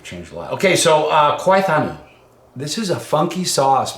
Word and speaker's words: Khwai Thanu: Khwai Thanu.